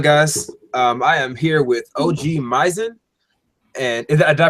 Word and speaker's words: OGMizen: I am here with OGMizen, and did I pronounce that correctly? OGMizen, but it's fine.